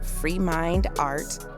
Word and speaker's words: FREEMINDXART: Y'all can find our girl on IG at Free Mind Art. I'm going to spell it for you. That's at FREEMINDX. She says the X is silent.